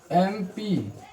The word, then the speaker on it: MP: से आ रहा है इसका प्रोनंसिएशन क्या बता रहा है? एन यानी कि ए वोवेल का बता रहा है।